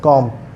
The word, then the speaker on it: comb: So don't use b and the b sound in the word comb. So the word is pronounced as comb.